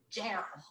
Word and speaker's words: Jarrell: Gerald. Gerald, Texas. Looks like Jarrell, but we have to say it with a Texan accent.